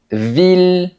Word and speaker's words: ville: Mais il y a des exceptions pour lesquelles on devra dire il. Par exemple, dans les mots mille ville ou tranquille. Ce sont les plus importants.